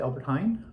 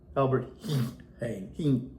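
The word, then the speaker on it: Albert Heijn: Albert Hine. Yeah, doesn't look like Hine. It's H E J. Yeah, it's it's Albert H. Albert Hing grocery store and picked up a few more things.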